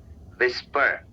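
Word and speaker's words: whisper: फुसफुसाना जैसे कान में कुछ फुसफुसाना उसको बोलते हैं विस्पर। विस्पर और विस्पर में एच साइलेंट है। तो विस्पर विस्पर नहीं कहना है।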